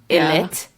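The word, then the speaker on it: ILLIT: Although I heard, Robin, you looked and they might have changed it and it's just ILIT, but it's pronounced I-lit, and it's supposed to mean I will be it.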